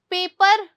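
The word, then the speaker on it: paper: आर की sound बहुत धीरे है। पेपर नहीं बोलते। पेपर। क्या बोलते हैं? पेपर।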